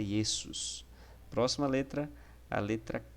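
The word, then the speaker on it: Ἰησοῦς: que jesus tá então em grego jesus é esse sus próximo a letra a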